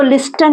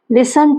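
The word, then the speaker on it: listen: इसको लिस्टन नहीं बोलते, टी साइलेंट होता है। लिसन टू मी, लिसन means सुनना।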